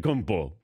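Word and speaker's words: Antetokounmpo: to pronounce yana sadet kumpo oh wow i don't know i still have it down and it's bo not po people don't understand that that it's beau not poe thank you rich reg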